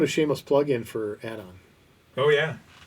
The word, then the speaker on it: ADON: ADON add-on. It's like add-on services.